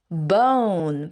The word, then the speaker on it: bone: bone 발음할 때는 끝에 우 발음을 꼭 넣어줘야 돼요. bone, bone, bone, bone.